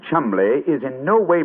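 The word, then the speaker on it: Cholmondeley: yet no reason to know that the name Chumley is in no way pronounced the way it is stout to endure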